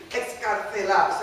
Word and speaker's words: excarcelar: Excarcelar, so I would have both of them. And I put the theta in right there, because phonetically that's what you would have, excarcelar.